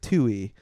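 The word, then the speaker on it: Tuohey: So the first guy who spoke uh his name is Patrick Tui and that is spelled uh t u o h e y.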